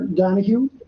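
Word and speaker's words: Donoghue: it for the record I'm Dr R Donahue danu is spelled D o n o g h u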